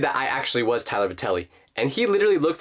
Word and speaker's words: Vatelli: First of all, that is not how you pronounce my last name. To everyone who doesn't know, it's Vatelli.